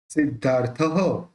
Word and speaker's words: सिद्धार्थः: प्रबुद्धात्मा सिद्धार्थः, इसका विसर्ग जो है उसका ह निकलेगा।